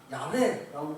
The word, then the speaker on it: 야훼: 여호와보다는 야훼라고 부르는 게 좀 더 정확하다고 그래요.